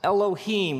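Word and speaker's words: אֱלֹהִים: it would look something like this and it's pronounced Elohim let me hear you say Elohim in the beginning Elohim created the heavens and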